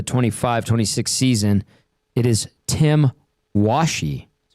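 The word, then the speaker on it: Tim Washe: Uh, according to the NHL's pronunciation guide for the 25 26 season, it is Tim Washi.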